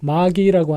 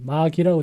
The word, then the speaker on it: MAGI: 사실 고민을 좀 했는데요 검색을 좀 해보니까 여기 마귀라고 되어 있죠 여기 보면은 마기 마법사를 뜻하는 영어 단어 메이지 메이지의 어원이다라고 돼 있습니다 이렇게 돼 있는데요 저는 그냥 마귀라고 읽겠습니다 그래서 구글이 레이티스트 최신